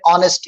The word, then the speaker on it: honest: यानी एक वर्ड्स में बाज़ वक़्त वर्ड साइलेंट रहता है, जैसे एक वर्ड है ऑनेस्ट, ईमानदार, तो लिखने में हम क्या करते हैं उसको HONEST, लेकिन पढ़ते H नहीं पढ़ते, हम क्या बोलते हैं ऑनेस्ट बोलते, क्या बोलते हैं ऑनेस्ट.